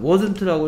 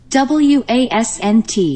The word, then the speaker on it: wasn't: 다음 자 wasn't라고 읽으면 돼. 이상하게 일조해. 인공지능이 바보라서 그래. wasn't입니다. w-a-s-n-t. 이거는 내가 보내야 되겠다. 클래스카드 본사에 이거 발음 이상합니다.